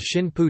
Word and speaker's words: Shinpū: Shinpu is the on reading, aniomi or Chinese derived pronunciation of the same characters that form the word kamikaze in Japanese.